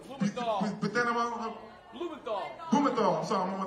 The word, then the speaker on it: Blumenthal: Blumenthal.